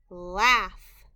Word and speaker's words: laugh: short a sound the gh is also a part of the word we need to remember by heart the gh is making an f sound the word is laugh tomorrow oh tomorrow